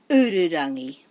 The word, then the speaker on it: Ururangi: Ururangi doesn't have any macrons, so we would put the emphasis on the first syllable, the u. Ururangi. Ururangi. Remembering to roll our r.